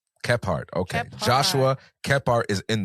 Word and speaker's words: Kephart: Tell me if I'm pronouncing that correctly, brother. Keepart. Keart.